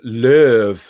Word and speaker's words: Löw: God, Tom says Joachim Low's surname is actually pronounced Löw, like Barry White.